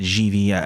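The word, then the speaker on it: Givi: I still typically call it seat, but it's like Givy. Is it Givy or is it GV? It's tough to get. I think Givy is acceptable.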